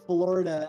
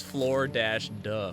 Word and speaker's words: Florida: Anyway, but yeah, like as we've been learning, the pronunciation of Florida as like Florida like is much more like a north or northeast like thing.